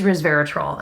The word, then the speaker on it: resveratrol: person that pointed that out because it is resveratrol and I am thankful to know how to